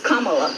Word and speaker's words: Kamala: The way she pronounces her name is Kamala.